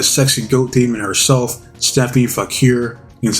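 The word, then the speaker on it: Vaquer: me on, the sexy goat demon herself, Stephanie Fakir.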